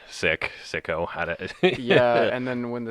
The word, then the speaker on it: Siko: I've heard it mispronounced Siko. Yeah, Seiko like the watch. I haven't heard of Is that a those. thing? Yeah, they're like not bad watches. I've heard Sikorsky, like the helicopter.